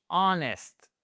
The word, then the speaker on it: honest: Honest, vous ne prononcez pas le H.